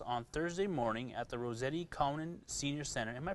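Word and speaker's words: Rossetti-Cowan: We are currently looking for any new participants who would like to join us on Thursday morning at the Rossetti Conan Senior Center. Am I pronouncing that right?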